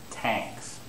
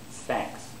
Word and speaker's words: thanks: One very common sound that they'll make as a mistake, they'll make T as a mistake. So, they'll say tanks. Tanks. Now, that's a mistake. They should pronounce thanks.